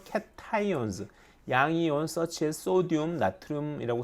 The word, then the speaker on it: 나트륨: 양이온 such as sodium, 나트륨이라고 쓰고 소듐이라고 읽는다. 칼륨이라고 쓰고 포테슘이라고 읽는다. 왜 영어식으로 읽는 게 아직까지는 더 국제적으로 인정받기 때문이죠.